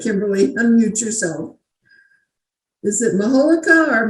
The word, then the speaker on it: majolica: Is it majolica or majolica or what? I always say it's easiest to remember when you think of Mallorca, Spain, Mallorca. Mallorca.